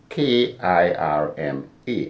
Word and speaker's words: Kirma: I'm seeing K-I-R-M-A. And how do you pronounce it?